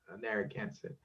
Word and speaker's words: Narragansett: nah that is a a spelling that is more in line with the pronunciation of our name narragansett and and and that is clear because you know we don't even have the sound r sound in the narrative language we don't have that sound um yet